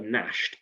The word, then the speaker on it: gnash: your terrible teeth now that word nash is very special because it starts with a you can see it here but we can't hear that when we say it we say it's a silent letter crazy i know so